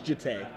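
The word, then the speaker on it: Jitte: It's Jite.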